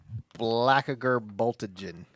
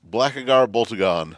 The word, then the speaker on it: Blackagar Boltagon: Blackager Boltagen. You're so close. I can't ever say his name. Oh, I'll give it to you. Okay. Blackagar Boltagon.